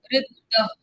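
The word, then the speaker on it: ऋद्ध: इसको इंग्लिश में स्पेल करना, इस वर्ड का pronunciation. रिद्ध, RIDDAH, रिद्ध, रिद्ध रिद्ध RIDDAH, रिद्ध।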